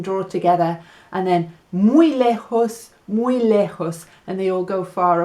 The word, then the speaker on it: lejos: And far is lejos. So maybe you have to use your horse to go far. Lejos. Spelled with a J.